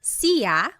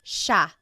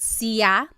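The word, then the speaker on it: siya: It looks like it should be pronounced sa, but it's actually pronounced sha sha. There are some regions in the Philippines that might pronounce it sia, but for the most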